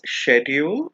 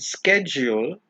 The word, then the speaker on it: schedule: This is pronounced as schedule in British English and schedule in American English.